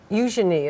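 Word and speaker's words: Eugenie: Eujenei is how you say it correctly. Yes, it's a soft she ah eujenei and beatus.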